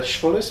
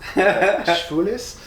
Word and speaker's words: Schwules: It's Schwules. It's apparently one way to pronounce, one pronunciation is like Schwules, the other one is maybe Schwules or something, and one means gay and one means moist.